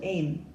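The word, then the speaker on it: Eyam: about the small rural village in Derbyshire called M and Google assures me that the correct pronunciation is M and it's a place that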